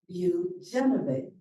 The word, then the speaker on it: Bujanovich: One of our newest members is Bujanovich. Did I say that right? Yes. Bujanovich. Okay, thank Just you. like it's spelled.